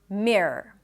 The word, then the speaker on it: mirror: And when you say it quickly, the entire word, it just sounds like a long R. Mirror.